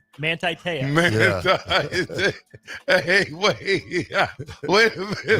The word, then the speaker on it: Manti Te'o: Manto Teo. Manti Te'o. Hey, wait a minute. Manti Te'o.